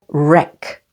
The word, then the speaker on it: wreck: syllable building Court guess W is silent before r as in these words wreck write wrong and with s or t